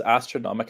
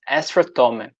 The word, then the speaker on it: Astrotomic: I thought it was Astronomic at first, but it looks like it's pronounced Astrotronic, I think. no, it's Astrotomic.